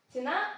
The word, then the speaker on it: ціна: вже знаю або ціни ціна наголос на на другому складі той цінник на другому